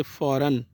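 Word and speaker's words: foreign: एन के बाद जब भी जी आएगा तो इसको प्रोनाउंस नहीं किया जाएगा, जैसे फ़ौरन। ठीक, फ़ौरन में जी जो है वो साइलेंट है, इसको नहीं प्रोनाउंस किया जाएगा।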